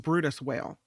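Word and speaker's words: Bryde's whale: large creatures this whale is it's the um Brutus whale although it's spelled be y r d e so it looks like bird Birds whale but it's pronounced Brutus whale and researchers have uncovered something pretty interesting about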